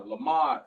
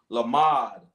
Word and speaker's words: lamad: Lamad, learn.